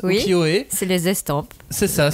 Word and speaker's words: ukiyo-e: C'est comme ça qu'on le prononce, oui. Ukiyo-e.